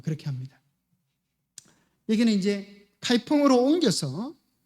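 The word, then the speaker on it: 开封: 거기 있는 수도 개봉, 카이펑. 중국 발음 말하면 카이펑입니다.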